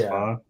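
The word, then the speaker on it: phở: it fa okay spelled Fox right but it's pronounced fa okay that's what always trips me up anyway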